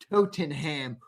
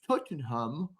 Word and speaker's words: Tottenham: I don't give a how to how the hell to pronounce Tottenham. Totenham. It's Tottenham.